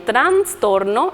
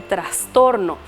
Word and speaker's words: trastorno: de decir alumno o agregamos n en transtorno en vez de decir correctamente trastorno o le cambiamos de